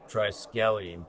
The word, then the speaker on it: triskelion: It is triskelion-based baffle. Triskelion. Can you say triskelion? Triskelion. Can you say triskelion? Triskelion. Anyone can say It took me fucking like a year to pronounce it. Just you will. It's a short bus me, right? It's not the T word. I can't. It's triskelion. You can't say it.